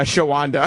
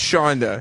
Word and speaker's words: Shonda: on Evansville Indiana's what sha not shwanda whatever we can't pronounce her nameand what what did Anthony call her uh shawanda sha and what's her name Shonda it's Shonda all right from Indiana's hot96